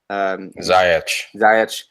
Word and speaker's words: Ziyech: Ziyech.